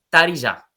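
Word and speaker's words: taarija: Son muchos instrumentos de tarilla. Lo podemos pronunciar, que somos de habla castellano, de español, podemos tarilla, tarilla, porque realmente es tarilla, con la A gutular.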